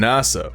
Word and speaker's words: Nasa: main character is named nasa which is pronounced the same as the american space agency nasa in japanese and he was named